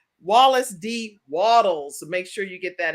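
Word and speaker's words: Wallace D. Wattles: of getting rich with wallace d walter walter waddles waddles i don't say it wrong wallace d waddles make sure you get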